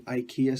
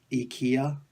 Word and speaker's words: IKEA: to be like an IKEA store funny things you know that the Swedish companies actually supposed to be pronounced it ikea ikea ikea yeah really weird fun